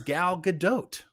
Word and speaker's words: Gal Gadot: ombre I've been saying it right it is Gal Gadot that's her name that's not what she said